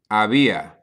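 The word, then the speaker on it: había: person singular and that is going to be AIA okay AIA that is how you say they was there was or there were this is literally just the past tense version of I okay ABIA for example you could say ABIA un what's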